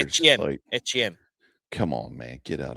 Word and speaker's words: Etienne: I was like, that's ETN. weird. ETN, that's right. Oh, that's right. They did. Which apparently we've been saying it wrong for the last however many years. Etienne.